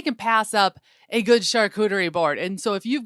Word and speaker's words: charcuterie: Yes, you named it a charcuterie board. Did I pronounce it right?